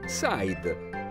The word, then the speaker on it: side: i d e in inglese si legge Side significa lato Leo ha